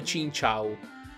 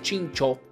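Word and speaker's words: Chinchou: ho cambiato chin chao in realtà andrebbe pronunciato cincio dato che viene dal pesce lanterna quello che il pokémon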